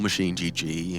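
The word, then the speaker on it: MachineGG: either machine or myself that's machine egg if you're looking for my handle machine egg machine egg okay or machine GG if you want to say it properly did you know it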